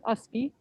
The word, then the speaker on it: Ustby: there he is um which pronunciation just forget the t so it's just usb and um alyssa if